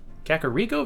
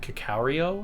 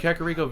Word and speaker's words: Kakariko: Kakariko Village. I used to not know how to pronounce that, FYI. I think I pronounced it Kakario or something like that.